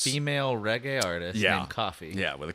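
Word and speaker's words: Koffee: There's this reggae artist called Coffee, spelled with a K.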